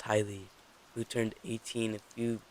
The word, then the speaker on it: Haley: years old except for Haley pronounced highly who turned 18 a